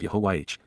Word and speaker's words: Yahowah: of, even before and near, Yahuwah, the proper pronunciation of YAHOWAH, God's personal and proper name based upon Haya,